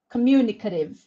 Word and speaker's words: communicative: Communicative or communicative. Communicative. The stress is mu, right?